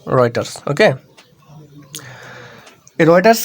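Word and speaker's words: Reuters: এখানে টেক্সট রয়েটারস এখানে এর প্রোনাউন্সিয়েশন হবে রয়েটারস ওকে এই রয়েটারস কি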